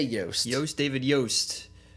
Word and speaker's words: Yost: I say Yost. Yost, David Yost. It's spelt like Lost, so it's Yost.